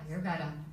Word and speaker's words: Ayurveda: This is where her patients seek her insights, and I really hope I pronounce this correctly, Dr. Bokhani, but Ayurveda. Is that right? Correct, yes. Ayurveda.